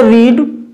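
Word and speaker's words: read: जैसे रीड, रीड, रीड, पढ़ दिया जाता है इसको रीड, रेड, रेड, मगर सेम स्पेलिंग है, सेम है।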